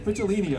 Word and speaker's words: Picciolini: He also commended me for pronouncing his name right. Because Picciolini, it's not easy.